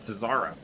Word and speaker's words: Tazaro: What's about Tazaro? It's not Cesaro, it's Tazaro.